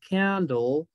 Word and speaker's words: candle: I will blow candle. ¿Sí? Candle. La E otra vez no la pronunciamos.